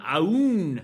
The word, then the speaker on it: Aoun: joined by Mr aoun he said to the way that you pronounce his name is like a wolf howling at the moon so Mr is